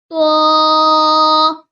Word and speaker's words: ط: This is to. Kindly read after me. To. To comes from the tongue, touches the root of front upper teeth to pronounce to.